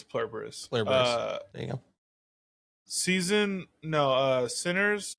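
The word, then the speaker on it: Pluribus: I'd put Plurberus over a couple of those things, or however you pronounce it. It's Plurberus.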